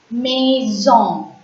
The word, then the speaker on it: maison: Maison. M-A-I-S-O-N. Maison. A-I in French is pronounced as A.